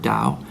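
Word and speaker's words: Tao: it's funny the word Dao they spell it t with a t but is pronounced with a D look it up that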